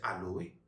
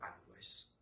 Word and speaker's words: aloès: a utilisé de l'Aloes on peut prononcer Aloé tout comme aloes ils ont utilisé de